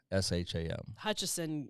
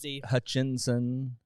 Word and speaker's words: Hutchison: little bit w-o-r-s-h-a-m hutchison used to get botched all the time because people want to say hutchinson hutchinson is the normal way more normal way to spell it i think there's more within it but you don't have the n you no it's and